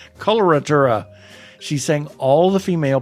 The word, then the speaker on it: coloratura: She was a cacolatura. There Yeah, we go. right. I say it right. Coloratura.